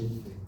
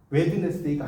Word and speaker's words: Wednesday: 웬즈데이. 맞죠? 수요일 웬즈데이잖아요. 대학생들도 쓰라고 하면 웬즈데이 이렇게 쓴다니까. 여러분 웬즈데이가 WEDNESDAY가 아셨어요? 이 D가 발음이 안 돼요. 묵음이에요. 웨드네스데이가 아니에요. 웬즈데이.